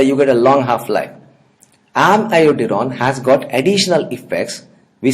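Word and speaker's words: amiodarone: So I am not calling it amiodurone, I am calling it amiodurone. Always pronounce it like this, is going to help you to remember the iodine, amiodurone.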